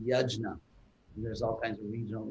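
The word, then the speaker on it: यज्ञ: central theme of the gita is pronounce it phonetically yajna there's all kinds of regional indian pronunciations like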